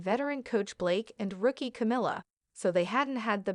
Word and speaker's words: Camila: this is not the first time he has mispronounced her name saying he calls me camela caral chameleon Blake then went on to make